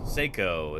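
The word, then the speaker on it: Saco: a video of uh Seiko Montana yeah here we go Seiko Montana uh this is what this part of the world looks like Seiko is actually how you pronounce it thank you very much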